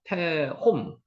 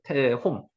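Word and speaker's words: תהום: 태홈. 요게 위에가 바보 위에 점이 찍히면 오 발음이 난다 그랬습니다. 그래서 태홈, 태홈이라고 했습니다.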